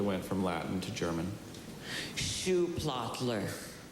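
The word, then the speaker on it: Schuhplattler: Shoe plottler. S C H. Is this the only pronunciation? It's the only one that I have. Shoe platler.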